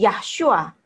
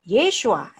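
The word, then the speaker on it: ישוע: mestinya Yahudi dong, nah, dia menyebut nama Yesus itu bukan Yeshua tapi Yahshua. Nah, ini juga bukan pakemnya orang Yahudi. Berarti dia adalah bukan Yahudi benar gitu kan? Karena dia membacanya Yahshua, karena Yahshua itu Yahweh, Yahshua itu bukan bahasa Ibrani. Ya. Dan itu bukan cara pengucapan nama Yesus yang benar.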